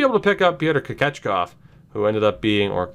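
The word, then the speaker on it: Kochetkov: I'm gonna trust Hunter Jones, and we might be able to pick up Pyotr Kochekov, who ended up being, Kochekov.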